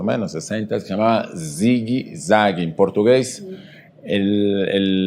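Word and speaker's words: zigue-zague: menos 60 se llamaba zigi zagi en portugués el la palabra zigzag se se escribe y se pronuncia zigi zagi Ah Noa se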